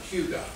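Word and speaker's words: hygge: the Danish word h y y g e pronounced Hugo uh it might be a little interesting for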